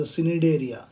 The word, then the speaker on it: Cnidaria: C is silent, don't pronounce it as a Cnidaria, Cnidaria.